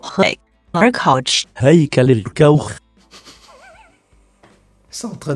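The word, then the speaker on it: Heckler & Koch: Parce qu'en français ça donne ça. Heckler Koch. En italien ça se prononcerait comme ça. Heckler Koch. En chinois. Heckler Koch.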